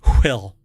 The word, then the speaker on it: WHILL: So you have to pronounce it Will.